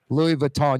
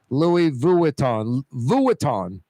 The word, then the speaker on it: Louis Vuitton: Louis Vuitton. Yeah, I say like 2 syllables. He's saying it's 3. Louis Vuitton.